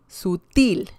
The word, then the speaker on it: sutil: So the intonation is strong. There's a punch when saying the last syllable. Pared, amar, sutil, azul.